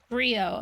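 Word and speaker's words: griot: I just don't want to mispronounce things if I can help it. G R I O Brio.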